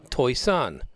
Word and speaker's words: Toisan: Toisan, not pronounced like it's spelled.